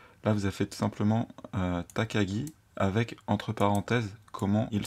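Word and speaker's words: 高木: noms japonais c'est que une même écriture peut avoir plusieurs prononciation et du coup le takagi entre parenthèses nous indique que voilà c'est kenji ici se lissent takagi c'est takagi san et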